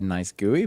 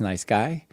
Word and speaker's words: NiceGUI: We're going to talk about nice guy. sometimes said nice gooey but we're going to learn that it's nice guy and basically a a